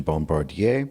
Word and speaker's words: Bombardier: One of the original Bombardier, French pronunciation Bombardier, snowcats.